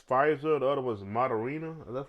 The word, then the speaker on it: Moderna: The other was Moderna. That's how you pronounce it.